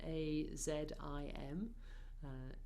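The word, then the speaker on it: عظيم: So just to say about it's written A-Z-I-M, but often this particular Z is pronounced more as a the sound, al-azim, al-azim. So we'll say Ya Azim.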